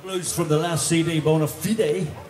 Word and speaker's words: Bona Fide: That's a little bit of blues from the last CD, Bona Fide, or as the Americans say, Bona Fide.